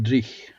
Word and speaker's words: dreich: No, it doesn't Driechen doon. It's just Drich.